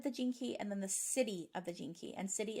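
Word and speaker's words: siddhi: The Gift of the Jinky and then the city of the Jinky and city is spelled s-i-d-d-h-i and that's kind of like the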